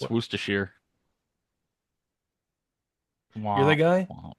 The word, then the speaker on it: Worcestershire: Like there's that one person like, no, it's actually pronounced Worcestershire. Worcestershire. Actually, it's What? Worcestershire.